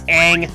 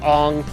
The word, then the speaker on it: Aang: it's Aang, not Ong.